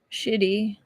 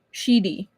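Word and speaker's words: Shidi: At first, he didn't realize where he was and absently muttered, "Shitty, don't fuss." Sheedy. Not shitty, sheedy. I'm going to have to make sure I pronounce that with emphasis.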